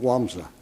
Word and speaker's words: Łomża: They were born in a town called Łomża, Poland, and it's spelled with an L, but after all, what do the Poles know about reading English? So anyway, it's called Łomża.